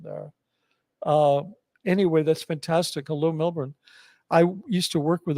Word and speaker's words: Melbourne: Hey, hello, Melbourne, Australia. I always wondered what people look like in Melbourne, Australia. They have big eyes down there. Anyway, that's fantastic. Hello, Melbourne.